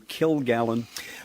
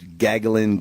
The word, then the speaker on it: Gilgallon: in fact i've been my name gets butchered gagalin gogolin gilligan gal-golian gilgallian gill first name gallon last name you know uh but